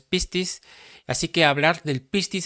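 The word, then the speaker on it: πίστις: Yo creo que usted ya ha escuchado esta palabra de pistis, pero no lleva acento, es pistis.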